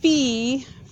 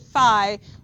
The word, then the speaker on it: phi: in front of you says fee for pronunciation on the unhear it said Phi and you know sometimes there's different ways to pronounce things that doesn't mean you